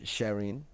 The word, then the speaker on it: Sharein: um he is the chief executive of sharing do i pronounce it right right yes you are also